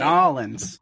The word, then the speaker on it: New Orleans: Now, I know I didn't pronounce that correctly, Pake. Nolans.